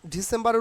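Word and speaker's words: December: নোভেমবা নো ভেমবা আর ডিসেম্বরের উচ্চারণ কিন্তু ডিসেম্ব ডিসেম্ব ডিসেম্ব এই যে আর will be silent hair ডিসেম্ব R will silent hair তাইলে ডিসেম্বর আচ্ছা এইভাবে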